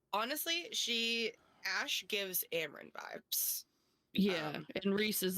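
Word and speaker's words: Amren: So I have it's so funny because in my mind I always want to say Armand, which I know is not right, but like when I see her name on the paper, I'm like, it's Amran.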